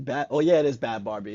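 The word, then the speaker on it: Bhad Bhabie: Oh yeah, it is Bad Barbie. It's just spelled ridiculously.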